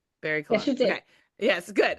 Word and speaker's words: BarryColon: Yes, BarryColon.